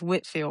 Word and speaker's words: Whitefield: because his name is spelled Whitefield, but I think it's pronounced Whitfield, right?